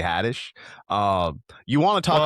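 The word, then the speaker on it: Haddish: He actually did just sound like an old man pronouncing her name Tiffany Hades. It's Tiffany Hadtish.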